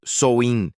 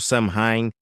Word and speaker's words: Samhain: Pronuncia-se algo tipo Samhain, porque ninguém nunca sabe como se fala direito.